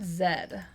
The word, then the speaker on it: Zedd: who is this Lord Zedd though technically Lord Zi is correct too because that's just that is just how you pronounce it another english-speaking countries Canada Australia New Zealand UK they all say that what was the name